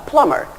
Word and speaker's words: plumber: A plumber. First of all, the B here is a silent letter. So, it's a plumber.